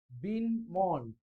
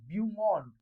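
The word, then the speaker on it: beau monde: The film world is मेड अप ऑफ बिन मॉन्ड.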